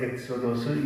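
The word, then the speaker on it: ἔξοδος: 성경에서 유일하게 여기 한 군데에서만 이 별세라고 하는 용어를 쓰고 있는데 헬라어로는 이것이 바로 엑소더스 영어 발음하고 똑같습니다.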